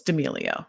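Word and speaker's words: D'Amelio: so how do you say her actual it's demilio yeah charlie d emilio yeah um you know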